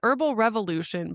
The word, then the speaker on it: Herbal Revolution: It was Herbal Revolution, but the the R is silent, which I know is